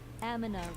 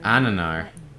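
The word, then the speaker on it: Amnennar: Aminar will no longer control the Quillbore. Ananar. That's how you say his name.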